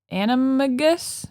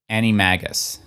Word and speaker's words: Animagus: Animorphs close an anim they've said it an animus yeah anagist yeah it's close enough what is it I think in I think they pronounce it Annie Magus Annie mag oh now you got me totally